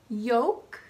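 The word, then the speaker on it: yolk: means to hesitate to resist or to recoil yoke the yellow part of an egg half salmon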